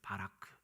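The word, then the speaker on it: ברך: 여기서 축복하다라는 번역된 이 히브리어는 히브리어로 발음을 해보면 바라크라고 할 수 있어요. 바라크.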